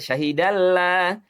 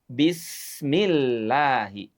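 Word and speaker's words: الله: Tapi kalimat yang sama lafaz Allah dia akan dibaca tipis jika huruf sebelumnya berharakat kasrah. Seperti lafaz Allah didahului dengan kata bismi maka menjadi bismillahi. Sederhana sekali ya.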